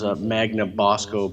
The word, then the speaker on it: Magnabosco: It's spelled like it sounds, Magnabosco, B-O-S-C-O.